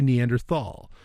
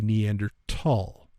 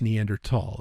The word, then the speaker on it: Neanderthal: neander it's not actually Neanderthal uh the pronunciation of that word is actually neander tall it's th but it's neander tall it's it's like a